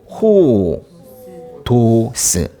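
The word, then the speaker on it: ὁδός: 뭐예요 호의 토에서 해 이거는 호라고 읽어야 되겠죠 호 도스 해 호도스 뭔가 뭔지 모르겠지만은 이거는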